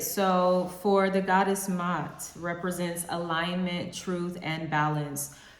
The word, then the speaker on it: Ma'at: I did say Ma'at too, but okay, so Mott. I like that. All right, so for the goddess Mott, represents alignment, truth, and balance.